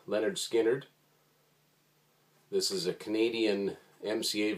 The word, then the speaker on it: Lynyrd Skynyrd: confessions first Skynyrd album 1973 pronounced Leonard Skynyrd this is a canadian